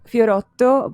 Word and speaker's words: Fiorotto: I'm here today with Fiorotto. Yes. Is that how you pronounce the last name? Fiorotto, but you did good.